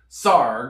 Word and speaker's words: Sarg: sarg and here it says sarg rhymes with argh from the time he